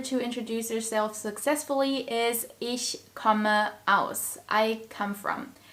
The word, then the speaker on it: ich: I which is Ish ish and in order to pronounce the CH sound properly you need to press air through a tiny gap between your teeth so it's ish ish all right let's